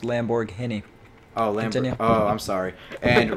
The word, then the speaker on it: Lamborghini: here we have the lamborghini mercia lego for five hundred and thousand dollars i'm sorry i'm sorry real quick real quick your accent was wrong it's pronounced lamborghini oh oh i'm sorry